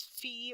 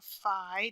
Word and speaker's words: phi: like an empty set is fee or Phi depending on your preferred pronunciation and then theta which